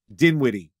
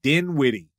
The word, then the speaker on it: Dinwiddie: Officers were called to Dinwiddie. It's that is spelled really weird. Dinwiddie. D-I-N-W-I-D-D-I-E, yeah.